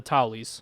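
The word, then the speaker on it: Tully: pleading to the Lords of Westeros specifically the Tally's yeah or the yeah that's how you say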